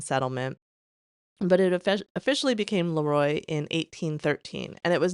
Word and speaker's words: LeRoy: And yes, it's spelled LeRoy, but my husband, who's from Western New York, has told me it's LeRoy, so I wanted to make sure I got the pronunciation correct.